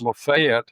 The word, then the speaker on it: Lafayette: We have one in Georgia, which is pronounced Lafayette here in Georgia. Yeah, Lafayette.